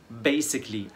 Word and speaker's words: basically: والكامل 12 basically اساسا basically. فكل الكلمات دي نطقنا الاس س مش ز. بما اننا قلنا كلمه basically ال سي ال ال واي نطقناها كلي مش كالي، ما قلناش basically basically.